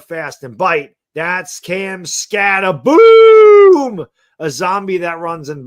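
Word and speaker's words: Skattebo: Well, he comments on one of my videos and he goes, Baddog, it's pronounced Scatabo, B-O, not like Scooby-Dooby.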